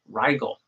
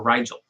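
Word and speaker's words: Rigel: And your sun is conjunct Riel or Riel, however you want to pronounce it, which is a super super bright shining star.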